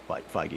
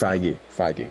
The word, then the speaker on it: Feige: I don't even know how to pronounce his name. It's Feige. That's the first. Feige.